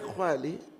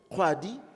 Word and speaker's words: Khwadi: Ntate Khwali, I'm saying it correctly, isn't it? Khwadi, Ntate Khwadi, thank you.